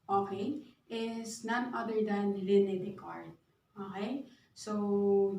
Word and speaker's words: René Descartes: is none other than René Descartes. Okay? So, yung spelling ng name niya, hindi siya yung ayon sa pronunciation niya.